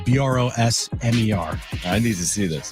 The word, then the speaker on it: Brosmer: Max Brosmer. Just how it's spelled. Brosmer.